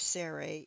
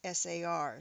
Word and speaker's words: sar: The root word of Sarai is sar, sar, as in Caesar, or the Russian Tsar.